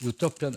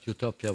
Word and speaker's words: Utopia: had the advant that two different particles in Greek language from which from which the where Utopia was coined are pronounced in English in the same way EU double vels EU and single U are are pronounced in English as U Utopia means there for two